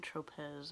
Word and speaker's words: Tropez: how you say that i keep saying tropez and i think the z is silent it's the self-tan purity